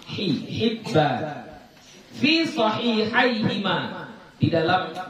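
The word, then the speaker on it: حبان: Bikasril ha, cara bacanya dengan mengkasrahkan huruf ha, Hibban.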